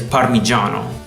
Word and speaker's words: parmigiano: is more acceptable but the proper way is parmigiano pistachio the Italian word is beast akio the English pronunciation of this bolognaise came from French and